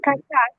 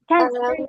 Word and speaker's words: kakak: have to say the K, the K, the K pronunciation.